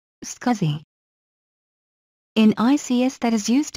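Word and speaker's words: SCSI: the other components of the computer scuzzy is pronounced scuzzy scuzzy in ics that is used in situations where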